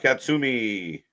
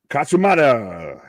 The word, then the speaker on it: Katsumata: Shunma Katsumi. Katsumata. I was close. Kamarimato. Katsumata. I forgot 2 syllables.